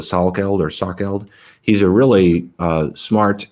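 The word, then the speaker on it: Salkeld: with uh i don't i think i pronounced his name brett sockeld um or it's spelled s-a-l so sal killed he's a really uh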